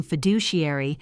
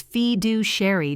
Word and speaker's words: fiduciary: one glorious video of Trevor pronouncing fiduciary as feed due Sherry during an onboarding Zoom.